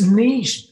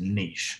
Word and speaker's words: niche: And I'm glad you pronounce it niche, actually, because, you know, there is a tendency to pronounce it niche over here. So let's just nail that one on my head. It is niche.